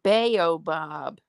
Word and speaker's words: baobab: Oh, it's pronounced baobab.